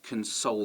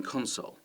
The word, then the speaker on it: console: our verbs here so you might console them and you can hear that the stress is on the second syllable they might be a fan of computer games so you might suggest they come over and play some xbox or playstation on your console your game console and that's the noun and so now we see that the stress is at the beginning noun stress at the beginning verb stress